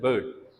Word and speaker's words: bird: हम कहते हैं bird. It's not bird. It's bird. ठीक है. अगेन ये जो R है, it is not pronounced in British accent.